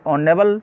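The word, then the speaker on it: honourable: Question number 41 में देखते हैं ही इज ए ऑनेबल मैन। इस सेंटेंस में दूसरे पार्ट में एरर है। यहाँ पर ऑनेबल में एच साइलेंट है और यहाँ पर वोविल की ध्वनि आ रही है और जब वोविल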